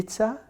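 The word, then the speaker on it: Tisza: the river right you see how do you pronounce it TI Tisa Tisa Tisa well that was wonderful thank you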